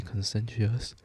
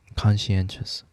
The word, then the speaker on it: conscientious: has always been extremely consensuous I pronounced that wrong conscientious consensuous Jesus conscientious it